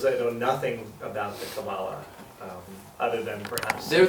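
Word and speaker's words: קבלה: pronounced in English uh because in Hebrew it's cabala in English it's cabala just the accent is on the different salable so um the word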